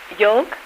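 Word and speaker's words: yolk: now let me think how do you pronounce y o l k y o l k yoke yeah that's right now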